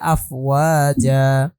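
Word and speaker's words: أفواجا: আলিফ দুই জবর জান, কিন্তু উচ্চারণ হবে আফওয়াজা। আমরা যদি একই সাথে বলি ইয়াউমা ইউনফাখু ফিস-সূরি ফাতাতুনা আফওয়াজা। বুঝতে পেরেছি? আফ বলে এখানে থামতে হবে? না না, থামতে হবে না। আফওয়াজা, আফওয়াজা, থামছি না তো আমি এখানে, জাস্ট আফওয়াজা এভাবে বলছি।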